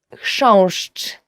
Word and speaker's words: Chrząszcz: will ever learn in Polish, as for the pronunciation, is chrząszcz.